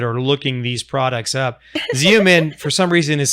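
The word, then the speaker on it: Xeomin: looking these products up zoom in for some reason is spelled x-e-o-m-i-n so sorry exactly exactly Seaman with an X yes and um so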